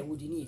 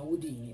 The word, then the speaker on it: Houdini: In realtà la pronuncia corretta non è Houdini, come siamo soliti chiamarlo qui da noi in Italia, ma Houdini.